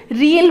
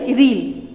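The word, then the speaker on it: riel: रियल बोलते हैं इसे, RIEAL, रियल।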